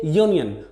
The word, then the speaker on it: union: word union of course this word union starts with the letter u which is a vowel but when we pronounce these word we say union the initial sound is your like is you that's why we can't